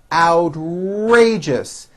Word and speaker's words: outrageous: idea is certainly original outrageous three syllables first syllable has the ow sound followed by an r outrageous that was an outrageous